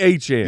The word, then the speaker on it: Etienne: wants to be Etienne. Yeah, so if you are coming back to fantasy football and you're like, why are you saying his name wrong? That's the French Creole pronunciation that he prefers.